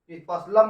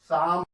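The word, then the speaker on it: psalm: यदि पी के बाद या यस शब्द आए तो वर्ड है, शब्द नहीं कहते, वर्ड कहेंगे। एस वर्ड आए तो, यस अक्षर आए तो, अक्षर आए तो नहीं करते, पी का उच्चारण सामान्यतः नहीं करते, उच्चारण नहीं करते, जैसे उच्चारण नहीं करते, जैसे पी ए यल, यहाँ पर यल की बात होती है, लेकिन पी एस ए यल कहते हम लोग। पसलम, पसलम नहीं पढ़ेंगे, इसको शाम पढ़ेंगे, शाम।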